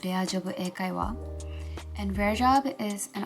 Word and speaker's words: レアジョブ英会話: company called Rare Job, and in Japanese it's Rea Job Eikaiwa.